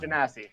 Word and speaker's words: Genasi: How does pronounce the race? Genocide. Water genocide. Genasi? Genasi, that's the one. Genasi.